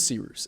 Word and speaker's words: Cyrus: discretion my name is sirus it's spelled like cyrus pronounced like c rooster just take out the tur thank you very much